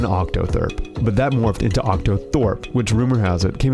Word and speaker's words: octothorpe: one really knows gee is it proper to spell it OCTA Thorpe rather than thirp there is no proper Doug calls it an OCTA thurp Lauren calls it an octotherp but octothorpe seems to have the most widespread use though its use